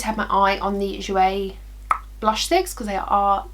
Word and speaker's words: Jouer: i loved my barbies oh okay jouer jouer jouer we've always got to say it like that